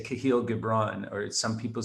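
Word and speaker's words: Kahlil Gibran: the prophet um and everybody pronounces these names differently but I say kahil gibron or some people say kahil gibron but it's a book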